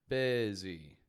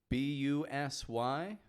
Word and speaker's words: busy: Busy. B-U-S-Y, pronounced bi.